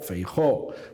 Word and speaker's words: Feijóo: La verdad es que pronunciamos Campoo, Feijóo, pronunciamos una O tónica un poco alargada, ¿no?